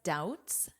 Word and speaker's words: doubt: On Tuesday, he expressed doubts doubts. What do you notice about the pronunciation here? Doubts. This B is silent, which means you can pretend it is not there for spelling, doubt.